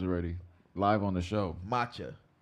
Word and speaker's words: matcha: Yes, we're gonna try out some maca tea. Matcha. I said it wrong again.